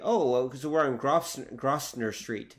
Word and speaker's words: Grosvenor: I enclose the telegram and am your faithful servant, Upper Grosvenor Street, May 30th, MP. It'll be Grosvenor Street.